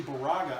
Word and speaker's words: Bourget: them and I think I pronounce his name Borghi it's actually Baraka I do believe I'm sorry if I